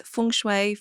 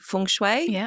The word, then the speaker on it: feng shui: So, there's funeoy. I say funue, but an easy way to remember it is funue.